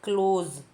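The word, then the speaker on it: close: एल ओ एसई क्लोज इसे क्लोज नहीं पढ़ना है ध्यान रखना जा के नीचे एक बिंदी है तो पढ़ना है क्लोज इसका मीनिंग होगा बंद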